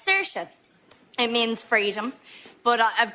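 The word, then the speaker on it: Saoirse: some would say too Irish it's uh it's serious it means freedom but I've got a little problem you see it's spelled well it's spelled wrong it's it's a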